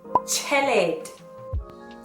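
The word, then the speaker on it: tjhelete: Now the TJH is pronounced ch, ch, chelete.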